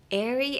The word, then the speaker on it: airy: So, the word that seems a bit hard here is I guess airy and flowy.